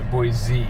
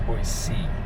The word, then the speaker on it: Boise: Pronounced with a C like be correct instead of boy people say boy Z. It's not boy C, it's boy C.